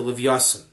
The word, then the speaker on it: Leviathan: wisdom sporting with the leviasan for the sake of the rest of this class leviathan is the ashkenazic pronunciation of leviathan um what do you